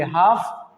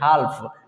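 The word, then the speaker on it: half: क्योंकि एफ से पहले आया एल साइलेंट होता है, तो इसलिए इसको पढ़ेंगे काफ, इसको पढ़ेंगे हाफ। ठीक है, लेकिन कुछ लोग पढ़ते हैं हाल्फ, है ना, जो कि गलत साउंड है।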